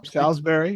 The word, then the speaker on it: Salisbury: and is that right is that how you pronounce salsbery you got salsbery uh Maryland uh and of